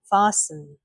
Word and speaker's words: fasten: So we don't say the T, we say listen, fasten, often.